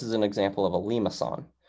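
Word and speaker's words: limaçon: an example of a lima sun so here it's like lee ma if you'd like the pronunciation okay and there's one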